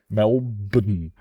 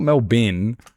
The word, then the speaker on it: Melbourne: Just Just pronounce the N completely independent of the word after the B. Melben. It's not Melbour. No, it's not B. No, it's Ben.